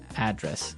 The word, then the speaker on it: address: And there the stress is on the first syllable address.